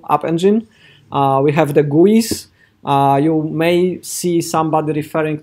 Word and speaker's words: GUI: So user interfaces is pronounced UI, and then you have the other one called graphical user interfaces, which is sort of pronounced GUI, right?